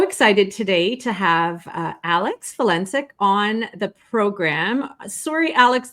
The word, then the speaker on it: Valencic: But I don't know why people have the hardest time getting the name Valencic correct. And I'm like, it's only 3 syllables, you guys. But I am Alex Valencic, and I am currently